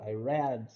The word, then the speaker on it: read: Ó, I read, quer ver? I read. Viu? I read. Que é a mesma pronúncia do red, né?